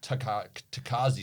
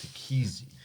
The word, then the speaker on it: Tekéze: we should get that takazi stuff and i'm like no you idiot it's take easy easy goes down easy